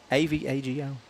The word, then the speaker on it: Avago: It's actually pronounced Avago. Oh. Yeah. A V A G O, Avago.